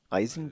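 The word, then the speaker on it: Eisen: done bugle भी आ रहा है आयरन का आइजन भी है ठीक है आइजन ठीक है ठीक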